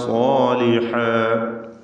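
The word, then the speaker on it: صَالِحًا: ലിമൻ ആമന വഅമില സാലിഹാ, ലിമൻ ആമന, അവിടെ ലിമൻ ആമന, ലിമന്ന പറയരുത്, ലിമന്ന പറയരുത്, മറിച്ച് ലിമൻ ആമന വഅമില സാലിഹാ. ഐന് ശരിയായി മൊഴിയുക, വ്യക്തമായി മഖ്റജിൽ നിന്നും ഉച്ചരിക്കുക. സാലിഹ, സ്വാദിനും അലിഫിനും തഫ്ഖീം കൊടുക്കുക, തടിപ്പിച്ച് ഉച്ചരിക്കുക.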